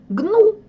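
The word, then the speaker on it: gnu: последнее слово и цельную гнул антилопа гну ну потому что не произносится буква g и так вот они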